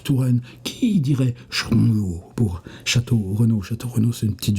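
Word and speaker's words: Château-Renault: vandom et château Renau qui se prononce chtr no et là tout d'un coup moi j'ai éclaté der Langot pas la seule fois d'ailleurs qu'on rigole dans son dans son truc mais on dirait un truc de Brana on dirait les les prononciations Slovaques chtr no mais ici dans notre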